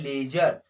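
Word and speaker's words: ledger: जर, क्या लिखा है, लेजर, समझ में आया, लेजर, लेजर। यहाँ पर हम लेजर नहीं कर रहे हैं, लेजर नहीं बोलेंगे, क्योंकि डी यहाँ पे साइलेंट है, क्योंकि डी के बाद जी आ रहा है।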